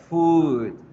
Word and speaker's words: food: Sus pronunciaciones van a ser con estas vocales. Entonces, zapato, pie, foot. Comida, food.